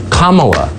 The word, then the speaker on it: Kamala: Kamala, like the punctuation mark, comma.